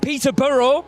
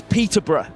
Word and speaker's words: Peterborough: Peter Burrow. We don't really pronounce the burrow. I see. It's more It's Peterbr.